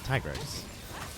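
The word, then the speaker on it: Tigrex: Tigres. Ah, thank you. Tiger and a Rex.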